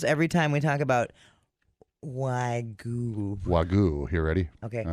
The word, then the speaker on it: wagyu: really bad at saying wagyu. Wagyu. Wagyu. How do you say it, Blake? Say it to me. Yeah, how about that? Wagyu. Wagyu. Say the dang Y.